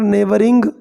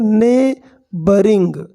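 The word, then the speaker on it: neighbouring: Are visiting from other नेबरिंग kingdoms. इसको पढ़ेंगे नेबरिंग, इसमें क्या है, GH साइलेंट है, नेबरिंग, ने बोरिंग नहीं, ओके, नेबरिंग, बरिंग, इस तरह से।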